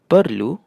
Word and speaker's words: perlu: meanwhile these are sejuk, perlu bentuk. and this one is telur. So you can see whenever E is paired with an I or U it has an "er" sound.